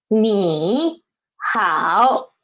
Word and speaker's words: 你好: First one, 你好. Then we should change the first one, change the former one into second tone, right?